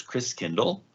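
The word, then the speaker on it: Christkindl: the christ child and the german pronunciation of christ child is chris kindle like kinder care kindergarten kind means child and chris means christ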